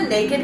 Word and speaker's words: NKD: But again, this is from the Naked collection. It's spelled NKD, and it's just so soft and seamless and flattering and comfy, and I love these tops.